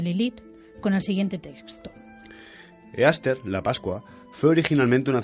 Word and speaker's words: Easter: Después de que Constantino decidiera cristianizar el imperio, la Pascua cambió para representar a Jesús, pero en sus raíces, Easter, que se pronuncia como Istar, está dedicada por completo a la celebración de la fertilidad y el sexo.